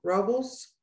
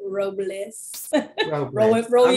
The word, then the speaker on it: Robles: thank you miss linda rubbles robles i'm sorry i butchered your name oh good morning i try to put it where people can pronounce it robles bless you roman bless you um